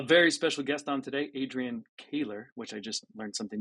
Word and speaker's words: Adrian Koehler: We have a very special guest on today, Adrian Koehler, which I just learned something new about you. Did I pronounce it right this time?